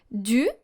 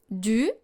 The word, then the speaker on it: du: First of all, separately, du, and then de. Make sure to make two different sounds, u and e, and then closer to each other. Du, de, until you can clearly hear the difference.